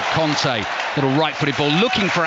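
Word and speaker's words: Kanté: get messages about this pangolo conte pronounces his own name as kante i do this vague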